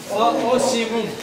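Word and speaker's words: Ocimum: Осимум. Там пишется O-C-I-M-U-M на английском, на латыни. O-C-C и с точкой M-U и снова M. Осимум на латыни.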